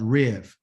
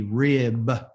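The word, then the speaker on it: ריב: a bet okay called Riv if it's written in English it'll be rib okay but the pronunciation is Riv okay that's pronunciation even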